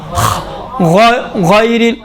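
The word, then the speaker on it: غير: سے غین نکلتا، دیکھیں غیر، غیر نہیں، غیر المغضوب علیہ، پڑھیں غیر، دیکھیں غیر نہیں ہے، کیوں؟ غین موٹے حروف میں سے ہے، اس کو موٹا تلفظ کرنا ہے، غیر المغضوب علیہ۔ بس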